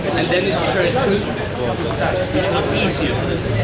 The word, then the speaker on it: Bogotá: So for the first 100 years, it was Bacatá, and then it turned to Bogotá, which was easier for them to pronounce.